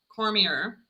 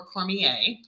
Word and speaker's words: Cormier: good friend of mine, Nicole Cormier or Cormier. Um, you can pronounce it either way. She's fine with that.